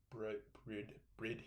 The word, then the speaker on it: Bride: It's got Brid Hystrix, fixed back seats, and yes, I know it looks like Bride, but it is pronounced Brid in Japan.